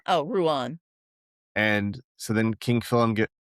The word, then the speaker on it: Rouen: Rouen. Oh, Rouen.